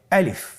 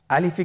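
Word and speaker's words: ألف: আলিফ। আমাদেরকে বলতে হবে বলুন আলিফ। আলিফে কিন্তু কোন টান নেই। আপনারা বুঝতে পারতেছেন আমি যখন আলিফ বলছি এর মধ্যে কোন টান হবে না। আলিফ। আবার বলুন আলিফ।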